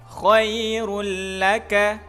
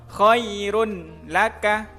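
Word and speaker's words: خيرٌ لك: Contohnya khairul laka, khairul laka, khairul laka, tidak boleh dibaca terang. Contoh khairun laka, atau dibaca dengung khairul laka.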